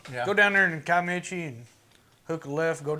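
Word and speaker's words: Kiamichi: I've always pronounced it Kaimichi. I always pronounce Kaimichi. More of a sh sound.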